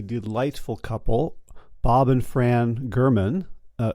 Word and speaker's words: German: couple Bob and Fran German uh spelled g r m-- an but pronounced with a hard G as in G and they're in their